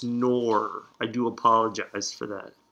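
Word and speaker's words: Knorr: to the no Corporation I pronounced your product canor which I have ask my mom because I think she's the one who started calling it canor and it's nor I do apologize for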